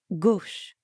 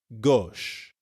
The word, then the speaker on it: gauche: Gauche. It's kind of like the English word gosh, but with the O sound from story. Gauche.